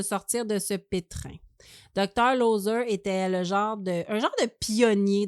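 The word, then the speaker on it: Loeser: C'est alors que le docteur, je ne sais pas comment ça se prononce, L-O-E-S-E-R, pas loser, là, c'est loser.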